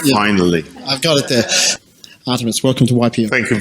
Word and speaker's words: Artemios: in all the rehearsals he kept saying my name wrong but now he got it right finally I've got it there Artemis welcome to ypf thank you very much thank